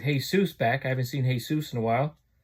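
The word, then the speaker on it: Jesús: I haven't seen Jesus in a while. His name is spelled Heysoos, by the way.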